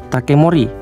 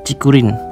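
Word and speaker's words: 竹林: Ini kalau dibaca takemori, dan dalam bahasa Jepang nggak ada pengucapan kayak gini. Takemori itu nggak ada. Aduh. Oke, takemori itu nggak ada. Yang ada cikurin, hutan bambu.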